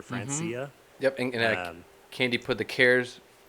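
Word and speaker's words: francesae: chat there it's the skiffia francaise i think is how you pronounce it or francia yep candy put the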